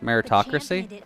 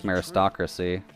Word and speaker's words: meritocracy: not only shared no it's meritocracy really right i feel like i'm so used to pronouncing it as meristocracy too bad they couldn't